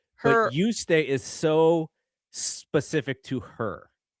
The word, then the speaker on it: Juste: But you stay is so specific to her. Her handle is even spelled Y O U S T A Y.